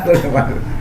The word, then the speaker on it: Le Mans: Bacanya Le Mans ya? Iya, Le Mans.